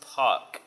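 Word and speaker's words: pak: And the next thing we need is a POC object, and that's, you type P-A-K, but it's pronounced POC.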